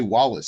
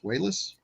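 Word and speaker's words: Walas: and chris uh is it i always say wallace so it's it's pronounced wayless wells i mean i've heard other other directors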